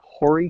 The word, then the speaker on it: Horry: And I I see that um warning now the I I would maybe pronounce that as Horry County. Yeah. I'm I'm not sure. That's right. Horry County.